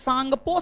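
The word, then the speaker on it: Tsangpo: form होता है Indus सांगपो Sachar John T silent T silent है इंडस सांगपो सचर जॉन फिर बृहद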